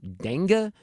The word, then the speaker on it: dengue: That's how you pronounce it, like dengue fever or something like that. Dengue, that's it. Thank you, Fred. I knew it was dengue, like I said the first time.